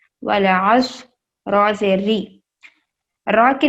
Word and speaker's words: والعصر: واو لام زبر ول، عین صاد زبر عص، والعصر، را سے ری.